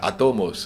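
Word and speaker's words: ἄτομος: Hein, je le prononce bien, c'est en grec atomos.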